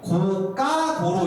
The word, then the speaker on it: 고가도로: 고가도로 . 이렇게 됩니다 . 그래서 , 어때 요 ? 높이가 올라갑니다 . 하지만 여기 에 's' 발음 을 넣으면 안 됩니다 .